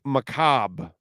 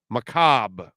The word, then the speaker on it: macabre: quarterback you know um it is pronounced Macabre Macabre with a short a okay uh if you